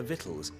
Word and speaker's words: victuals: be careful they're hot I've never seen the word vittles spelled like that I've always seen it v-i-t-t-l-e-s I would not have imagined victuals how long has it